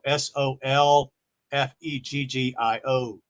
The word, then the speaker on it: solfeggio: So I'm just going to spell it to you. Spell SOLFEGGIO frequencies.